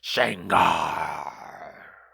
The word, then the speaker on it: Shangar: She runs into Shangar, lead singer of Living Corpse and ruler of the dead world. You didn't say it right. It's Shangar.